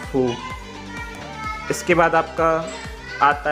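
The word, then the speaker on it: ふ: जब भी हम कोई वर्ड लिखेंगे रोमाजी में तो FU फू से स्टार्ट करेंगे और हिंदी में मैं आपको प्रोनाउंसिएशन बता देता हूँ फू।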